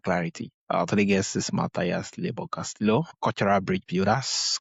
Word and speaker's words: Mathias: My name is Matias Castillo. By the way, the H is silent.